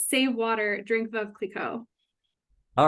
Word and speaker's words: Veuve Clicquot: Oh, I think I said save water, drink Veuve Clicquot. All right, so I would have pronounced it correctly, but I'm glad you did it for me.